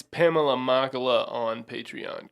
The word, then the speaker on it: Machala: like sort of backstage past vip it's pamela makala on patreon correct it is yes let's be